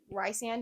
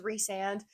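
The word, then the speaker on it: Rhysand: I'll let that slide it's Ric just like Ry sand is reand and and I'm sure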